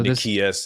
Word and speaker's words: Nicias: How do you pronounce this guy's name? Is this Nicias? Nicias, right? Or So Nicias is, yeah, I say Nicias.